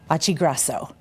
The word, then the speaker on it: Occhiogrosso: of the chamber, Occhiogrosso, right? Yeah. Is that how you say it? It's how I say it. If I were in Italy, it's not how I would say it.